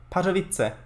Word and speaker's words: Katowice: How do you pronounce that? Katowice. Katowice. Oh, so like the German word for joke. Katowice. Pretty much.